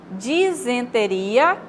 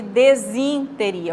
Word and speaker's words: disenteria: Disenteria em vez de desinteria. O correto é dizen e não desin, né?